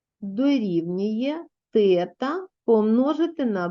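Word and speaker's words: θ: через грецьку букву т пишеться як 0 наш і посерединці хвилька читається тета грецька буква тобто позначимо через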